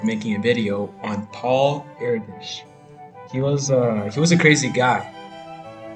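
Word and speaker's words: Erdős: But Paul Erdos, yeah, pronounced Erdish, he was a couch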